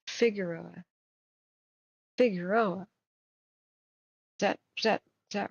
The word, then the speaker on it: Figueroa: Next, we want to go get Figueroa. That's the California pronunciation.